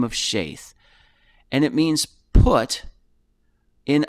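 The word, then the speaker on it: Sheth: actually should be pronounced sheath sheath with a with a long a even though it looks like s-h-e-t doesn't look like it should be uh pronounced that way but this is strong's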